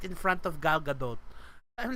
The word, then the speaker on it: Gadot: There's a T sound. Gal Gadot, Gadot.